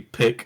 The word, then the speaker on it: pique: my interest wrong, because they use the word pique as in peeking over something, but that's not the right word. The word is actually pique, and it's spelled Pique, and it means to arouse or to raise.